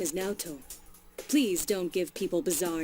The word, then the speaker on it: Naoto: detective I beg your pardon my name is NATO please don't give people bizarre nicknames you make